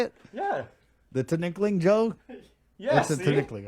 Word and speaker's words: tinikling: Jokester is doing the tinikling. Is that how you say it? Yeah. The tinikling, Joe?